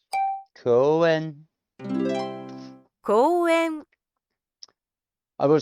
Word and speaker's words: 公園: 公園こ Ko, こう u, え e, ん n, 公園 koen.